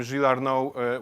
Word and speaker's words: Gilles Arnaud: So you have here proper name, Gilles Arnaud, which should be pronounced with the French pronunciation.